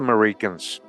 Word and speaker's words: Meriken: So, who were the Merikens? Meriken comes from the word American, right? Meriken comes from American, often pronounced about the initial A.